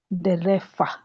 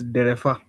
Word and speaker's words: Derefa: Oh, I saw that it is pronounced, he corrected somebody on the open group, Derefa. In the Kikuyu way. Yes, karibu. Okay. Thanks. Yeah, it's Derefa Washege.